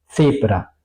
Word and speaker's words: Zebra: En alemán, al contrario, es mucho más fuerte. Zebra, so.